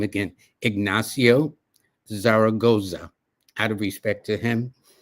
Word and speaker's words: Zaragoza: it was this general, this young general, Ignacio Zaragora.